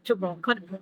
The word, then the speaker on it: Tchoukball: Yeah, Tchoukball. That's actually a very accurate pronunciation.